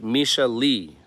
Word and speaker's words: Misha Lee: Option 3, it's pronounced like Misha Lee, both E sounds.